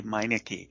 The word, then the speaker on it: Meineke: Can you tell us a little bit about is it Meineke, how you pronounce his name? Yes. Emilio Pepe Meineke, Yeah.